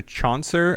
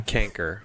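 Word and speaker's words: chancre: in on that one damn canker canker but why is it spelled CH especially when canker like canker sores ca n k ER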